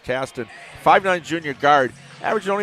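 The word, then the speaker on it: Qastin: number five Andrew Caston spelled q a s t i n but pronounced Caston 59 Junior guard averaging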